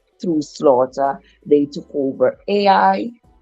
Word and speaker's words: Ai: Slaughter they took over AI however you pronounce that Punch's name a it's spelled a i so it's I some people pronounce it I they took over that